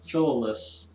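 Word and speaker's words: Philolaus: also a theory that maybe tomas the pythagorean philolis that's the right way to pronounce it who lived in the sixth century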